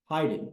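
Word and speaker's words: Haydn: greatest skill in composition Hayden of course or hien how do you pronounce his name hien excuse me wow epic fail I'm doing composer today and Hayden this is freaking brutal so the componer and Hayden Heiden Joseph Heiden thank you Howell h a y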